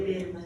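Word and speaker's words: Baermann: de concentración que llama técnica de berma se escribe berma se lee berma sí es una técnica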